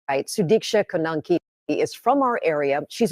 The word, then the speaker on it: Sudiksha Konanki: Her name is Sanushki, if I'm saying it right. I'm sorry, excuse, I'm saying it wrong. It's Sudiksha Konanki, 20 years old, University of Pittsburgh student.